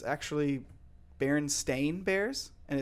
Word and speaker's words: Berenstain: the Berenstein bears but Berenstain but isn't that weird like couldn't you swear that it's Berenstein bears yeah it's like everyone